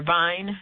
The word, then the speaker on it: Vine: name Vine you say his name again sure Vine v i NE deloria Jr he was a